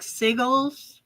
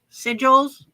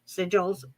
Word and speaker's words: sigils: We're gonna talk sigles. Sigils. Sigils.